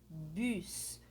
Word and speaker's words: bus: temos aqui a primeira palavra que é le bus bus bus então lembra lá vai lá no meu vídeo sobre a pronúncia do francês para vocês aprenderem a pronunciar